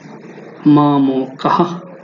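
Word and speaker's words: মামকাঃ: জোরে উচ্চারিত হয় কিন্তু সংস্কৃত অনুযায়ী এই বিসর্গের উচ্চারণটা হয় এভাবে মাম কাহা মামকাহা দেখুন এখানে মাম কা বাংলা উচ্চারণ করি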